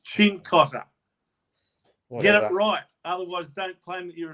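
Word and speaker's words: Cincotta: pronounce Italian names and you say sim Cotter it's chinkotter otherwise don't claim that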